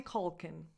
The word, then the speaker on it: Culkin: Macaulay Culkin. Macaw. So the stress is on caw. So the first vowel is just a schwa. Macaulay. Macaulay Culkin. Like Colt, Culkin. Last vowel, a schwa.